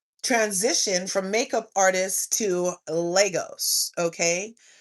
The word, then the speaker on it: Lagos: I was pronouncing it like Legos, like you build with Legos. And it's actually Legos. The person said it's Legos like Vegas.